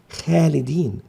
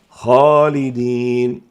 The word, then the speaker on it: خالدين: لذلك لا نقول خالدين، بل يجب تفخيم هذه الخاء فتنطق خالدين.